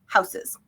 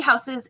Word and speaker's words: Hausys: you pronounce it houses like German spelling of house plus systems houses that they don't there's